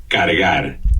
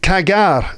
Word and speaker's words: cargar: Cargar. Cargar. And? Cargar. Cargar. What? Cargar. Cargar. Cargar. Cargar. And? Cargar. Cargar. Right. That's how it should be pronounced. C-A-R-G-A-R. Cargar. Mm-hmm. And hilariously, I pronounced it cagar.